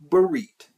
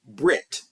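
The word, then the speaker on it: ברית: Recall that a covenant, aka Berit, or Brit, as some pronounce it, is a binding agreement between two or more parties.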